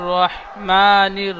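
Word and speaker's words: رحيم: একটু বিসমিল্লাহির রাহমানির রাহিম এখানে ছোট হাচ্ছে বড় হা উচ্চারণ করবেন রাহিম হা গলার বীজখান থেকে বিসমিল্লাহির রাহমানির রাহিম বলেন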